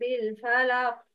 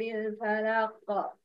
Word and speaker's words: الفلق: استمع واختر النطق الصحيح. Please look at the ayah. Try to listen. Number one. قل أعوذ برب الفلق. Number two. قل أعوذ برب الفلق.